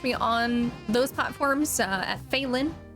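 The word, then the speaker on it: Phaelin: you can catch me on those platforms at phelin spelled the same both ways f-h-a-e-l-i-n uh and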